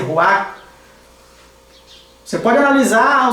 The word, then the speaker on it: ruach: no hebraico é ruach, com CH no final, ruach, não se pronuncia o CH, só se pronuncia ruach.